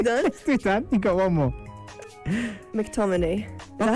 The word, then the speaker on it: McTominay: McTominay.